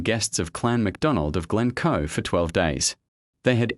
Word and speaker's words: Glencoe: The emphasis is on the second syllable, Glencoe.